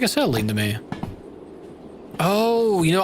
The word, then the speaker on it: acetylene: That doesn't look like acetylene to me. Oh, you know, I see. Acetylene. Okay. Yeah. Acetylene. Okay. Yeah. Okay, that makes more sense. I was pronouncing the C wrong.